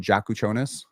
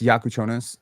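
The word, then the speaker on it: Jakučionis: I think Kasparus is like a funny name, too, because you know he he a lot of people call him Jakuchonis. It's Yakuchonis, you know.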